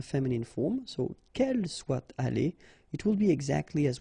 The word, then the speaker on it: allés: The good thing, as usual in French, is you will pronounce it aller, aller, aller, and aller. So technically you don't pronounce the final you don't pronounce the final s, and you don't pronounce the final es, but still you should write them.